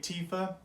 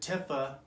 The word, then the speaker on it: Tifa: into this o2 uh fighting goddess tiffa so tifa whatever it's a final fantasy 7 remake tifa statue i'm gonna really try to say tifa but uh if you're someone like me you